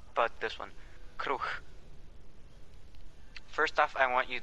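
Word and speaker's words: kruh: Is that how you say it? Kruch? Kruch. With an H at the end. Kruch. Kruch. With a K-R-U-H.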